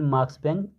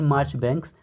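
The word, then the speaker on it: Marchbanks: और एक कैरेक्टर है हमारा यूजीन मार्क्सबैंक, सॉरी बार बार मैं इसे गलत प्रोनाउंस कर दे रहा हूँ, तो यूजीन मार्चबैंक्स।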